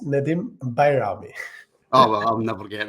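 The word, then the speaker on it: Nedim Bajrami: who is Nadim bami yes the name is pronounced Nadim bami oh well I'll never get that yeah it's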